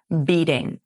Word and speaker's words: beating: beating. This is an essential element of American English pronunciation. When you have a t between two vowels, it softens into a d sound.